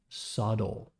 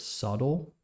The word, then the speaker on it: subtle: difference remember the word subtle is spelled like this Su b t l e but you don't pronounce the b it's a very subtle difference good job man good